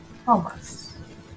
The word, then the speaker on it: humus: Humus, or some people say humus, whichever way you want to pronounce it.